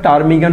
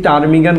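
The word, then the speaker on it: ptarmigan: একটু কথা বলতে হয় টারমিগান শব্দটি শব্দটি টার্মিগান বললে আমি আপনি বলবেন পি এর উচ্চারণ হচ্ছে না তার মানে পি is silent letter hair এখানে পিটা হলো সাইলেন্ট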